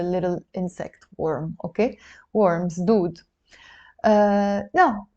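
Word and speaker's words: دود: So it's d, oo, d. Together you will pronounce it dood.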